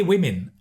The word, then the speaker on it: women: First is women, because a lot of students confuse woman, one, with women in the plural.